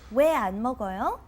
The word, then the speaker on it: 왜 안 먹어요: Even though it's written separately, you pronounce it as one word. Why don't you try it one more time? 왜 안 먹어요?